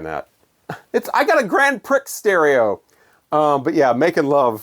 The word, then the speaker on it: Grand Prix: Which, when I was a kid, I used to call Grand Prix. Because that's the way it's spelled.